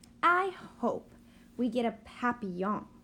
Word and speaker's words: Papillon: hope we get a Papillon like our neighbor's dog you say it like this tapi yawn in French it means butterfly I